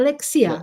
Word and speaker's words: Alexia: Is that how you pronounce it? Alexia? Yeah, Alexia, yeah.